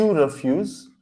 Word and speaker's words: refuse: But as I said, right, these four are pronounced exactly the same.